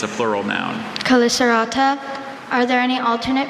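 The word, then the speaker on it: chelicerata: Caliceratta, are there any alternate pronunciations? There's Calicerata, Calicerata.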